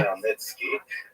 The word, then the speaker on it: Khmelnytsky: Khmelnytsky, with a guttural at the beginning.